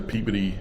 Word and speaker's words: Peabody: We're in the Peabody, that's how you pronounce it, museum.